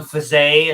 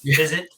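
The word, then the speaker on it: Fiset: have the goalies like stephane faze instead of fizzit dominique rousseau it was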